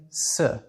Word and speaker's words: sē: If you were talking about a masculine object, instead of the, you would say se. If you were talking about a feminine object, you would say seyo.